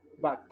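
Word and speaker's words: בת: Mientras que la vocal siguiente, que es patá, sonaría como bat. La palabra, que es hija en hebreo, es bat. Casi, es como una A, como la forma de pronunciar la U en inglés empero, que es bat, o sea, una A muy cerrada.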